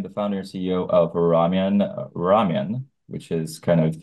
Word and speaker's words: RAWMYUN: You got to help me with the pronunciation here. It's is it RAWMYUN? Yeah, you got it. Thanks for having me. So I am the founder and CEO of RAWMYUN.